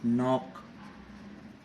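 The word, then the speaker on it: knock: नॉक, no sound of के।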